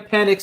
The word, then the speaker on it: Penix: We have Sam Penix. Am I pronouncing your last name right?